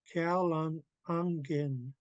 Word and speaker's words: kalang ungen: and this one that we already said is there's an ung towards the end. Kalang ungen. So don't confuse my U for a U sound. It should have a ung sound. Like this should rhyme with lung.